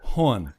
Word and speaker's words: hon: what is a hun and it's pronounced horn i have i have